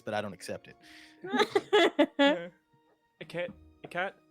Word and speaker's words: Hecate: A cat. How do you pronounce your name? A cat? Kate? Kate? Hecate. Hecate. Hecate. Oh, There you go.